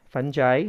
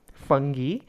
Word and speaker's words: fungi: You know, I don't know what is the correct pronunciation, because I say fungi, some say like fungi. So depends on the pronunciation accent what you use.